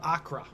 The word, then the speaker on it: Acre: Oh, we're going to talk about the Siege of Accra, which might be kind of that's their pronunciation. It's just spelled acre.